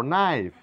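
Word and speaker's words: knife: এটা কেন না বলে বলবো নো কে এখানে সাইলেন্ট নো মানে জানা কে নলেজ নয় বলবো নলেজ কে নাইফ নয় বলবো নাইফ নেল নট এখানে প্রত্যেকখানে দেখা যাচ্ছে এন এর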